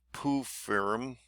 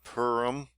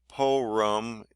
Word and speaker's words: Purim: You can pronounce this name many ways. In Eastern tradition, it is called Purim. I'm trying to say it as they are. Among Westerns, it is also called Purim. Some Central European communities even call it Pirum, calling this holiday Porum, as English speakers are sometimes want to do. Is a surefire newbie.